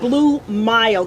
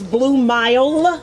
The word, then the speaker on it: Blue Mile: to performed yeah and that's blue mild because you know we don't be pronouncing words in our community but it's blue mile with the m-i-l-e yes blue music dot